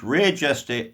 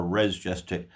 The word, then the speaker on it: Res Gestae: It's either pronounced Res Gestae or Res Gestae. I always call it Res Gestae.